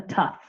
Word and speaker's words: tough: Even though it's spelled with uh O U, we just pronounce the uh the tough.